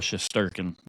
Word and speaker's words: Shesterkin: was close I was close shurin yeah eigor shesterkin yep I like eigor eigor he's not King